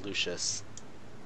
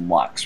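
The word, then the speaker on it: Luchs: in front of me you realize this pronounced Lux right I know but it looks like lucious so no okay what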